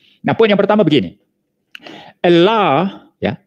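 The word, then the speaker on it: الله: Allah, ya, Allah is the way the word HHLA spelled from right to left as it is Aramaic is pronounced.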